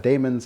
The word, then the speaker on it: daemons: Demons of a badon that's demon spelled d-a-e some of you in the comments I know have asked me to pronounce that demons I'm not going to uh demons feels like the right way to pronounce that word for me so that's